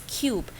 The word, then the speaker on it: cube: It's like when the E is not there, it is like cub, and when it's there, the silent E word, then becomes the sound of U, so it's cube.